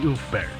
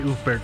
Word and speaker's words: Ulfberht: And for anybody that this might be a little confusing, the V is pronounced with a U sound.